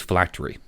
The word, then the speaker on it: phylactery: The immortality granted to a lich lasts only as long as it feeds mortal souls to its phylactery. Is that how you pronounce that?